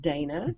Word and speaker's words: Dana: Talking of nicknames, he actually gave your brother, is it Dana or Dana, do you pronounce it? We pronounce it Dana.